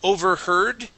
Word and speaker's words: overheard: Okay, let's go to overheard. Okay, make sure you're pronouncing an er sound.